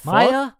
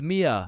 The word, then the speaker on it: Mia: Wait, what the Maya, is is Maya present? Uh, it's it's Mia. Wow, quite the name you got there. It's spelled kind of weird. No, no, it's not. It's literally three letters.